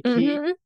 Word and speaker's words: quay: say that Quay though you asked about Quay key it used to be cook key and then